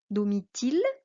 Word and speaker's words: Domitille: Dans notre classe, on a le cas d'une élève qui a I deux L, mais chez elle, on ne le prononce pas I.